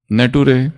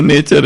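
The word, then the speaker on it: nature: नटूरे फटूरे, वो फ्यूचर है, वो नेचर है, वो नटूरे और फटूरे नहीं है।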